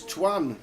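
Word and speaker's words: Tuan: It's Twan, T-U-A-N. Not Tua, the quarterback for the Dolphins.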